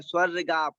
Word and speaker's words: स्वर्गाप: उच्चारण में जहां पर लिखा हुआ है स्वर्गाप, इसको गाप तक पढ़ना है। स्वर्गाप, स्वर स्वर गाप।